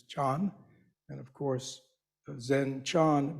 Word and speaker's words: Chan: know about Zen but Zen is simply the Japanese way of pronouncing the character that in Chinese is John and of course Zen